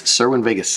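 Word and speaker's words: Cerwin-Vega: it's Vegas okay I don't know how to spell it serwin Vegas v g s I guess but uh it's serwin Vegas subwoofers it's I come from the generation that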